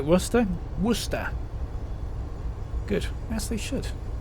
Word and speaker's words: Worcester: is what it is they say it like Worster Worster good guess they should I love it when Americans pronounce um leester always get a good kick